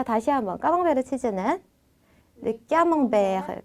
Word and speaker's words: camembert: 자, 프랑스어로 정확한 발음으로 어떻게 읽냐면 Le camembert, Le camembert, Le camembert, le camembert, Le camembert. le camembert, 자, 이렇게 세, 아 발음이 붙어 있을 때는 까가 아니라 꺄라고 읽어주셔야 되거든요. 그래서 까몽베르라고 읽어주시면 되겠습니다.